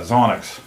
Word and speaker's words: Xonox: your mom jokes most definitely but uh yeah zonix x-o-m-o-x now that's a uh a palindrome which means the word is spelled the same way forward and backward like